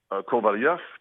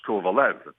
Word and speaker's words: Kovalev: if we go by the international pronunciation we'd have to go and say sof the same way we did or uh for Alex kovalov uh a few years ago but Alex asked us to pronounce his name the North American way so we agreed and we went from kovalov to Alex kovalev now we'll do exactly